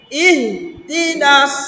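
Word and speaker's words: اهدنا: আমরা অনেকেই এইভাবে পড়ি ইহদিনাস সিরাত, ইহ, হে আসবে না, একবার উচ্চারণ। ইহদিনাস, হ্যাঁ, এই উচ্চারণটা হবে।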